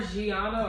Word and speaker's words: Gianna: Yes, it's more Jeanna or Jeanna.